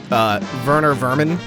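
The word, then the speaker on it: Werner Werman: vermin or vermin but the German W is pronounced like a V so that's how it winds up sounding like vermin it's so good also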